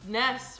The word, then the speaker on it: Ness: Ness rhymes with mess. Yep, that's why I'm a big mess.